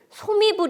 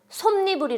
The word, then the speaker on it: 솜이불: 단어 네요 자 그런데 우리가 솜이불을 솜이불 이라고 발음하지 않고 손님들이 라고 발음합니다 이것도 별로 의식하지 않고